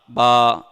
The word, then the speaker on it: با: اگر کسی نے ہونٹوں کو دبا کر پڑھا با تو یہ با کا ساؤنڈ پے سے تبدیل ہو جائے گا, کیونکہ ہونٹوں کو دبانا نہیں ہے.